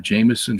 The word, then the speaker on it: Jameson: right around there um Jameson Fawcett and brown an Anglican commentary okay so uh Jameson j-a-m it's like Jamison liquor spelled the same way falsette f-a-u-c-e-t-t and brown